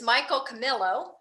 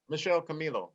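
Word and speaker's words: Michel Camilo: to play with is michael camillo um he says connection did i pronounce that incorrectly michelle camilo yes oh i should have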